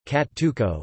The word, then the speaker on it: Cacciucco: Cacciucco, Italian pronunciation, Cacciucco, is an Italian fish stew native to the western coastal towns of Tuscany and Liguria.